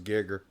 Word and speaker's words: Geiger: It's spelled yeah. Geiger, but it was Gigger.